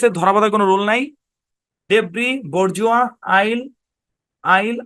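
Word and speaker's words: debris: এখানে এস টাও কিন্তু সাইলেন্ট ওকে তারপর দেখি সাইলেন্ট এস এর ধরাবাধার কোন রুল নাই ডেব্রি বর্জুয়া আইল আইল আইল্যান্ড তারপর শব্দের শেষে টি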